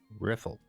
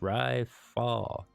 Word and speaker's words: Riffle: just peachy now right riffle hey you private second class my name is pronounced rifle rile fall it's not that difficult you must learn to